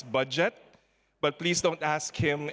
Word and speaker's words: Budjette: that by the way his name is pronounced as budget but please don't ask